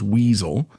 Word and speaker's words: WSO: You've probably already heard this acronym WSO, right? Which they pronounce as weasel, which stands for weapons specialist officer.